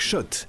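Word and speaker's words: Schott: Jouer et gagner sur RMC avec Shot, la marque iconique new yorkaaise depuis 1913. Oui, Shot et pas Scott. Ça fait des années qu'on prononce mal la marque.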